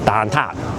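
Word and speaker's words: 蛋撻: And how like I know it's dantat like it's dant. It just doesn't sink into my head any other pronunciation for dant. I mean I can remember right now that it's tant but I'm not going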